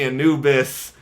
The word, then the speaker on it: Anubis: we're driving towards and the anoobas as we now know how to pronounce Anubis properly what we already knew